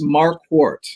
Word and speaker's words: Marquart: your last name then well it's mark wart you know like a quart of milk gotcha okay so the